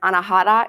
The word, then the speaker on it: anahata: You pronounce this as anahata in Sanskrit.